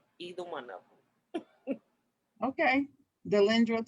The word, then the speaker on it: Delendra: Spell it for us. Delendra, which is Delendra. You can find me on all social media with that name, either one of them. Okay. Delendra.